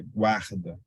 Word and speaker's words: guarda: A letra U é pronunciada, guarda, não é dígrafo.